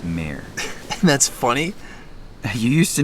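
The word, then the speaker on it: mare: laughs mayor yes you keep pronouncing it Mar but it's mayor that's funny you used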